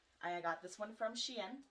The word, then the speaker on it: Shein: I got this one from Shein, which is spelled like the dog in French, S-H-I-E-N.